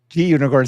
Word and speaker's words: Gunicorn: it's a green unicorn I'm pretty sure G unicorn stands for green unicorn not unicorn but you know you all say it how you wish but G unicorn is how I say it because it's a green unicorn mod whiskey Cherry Pie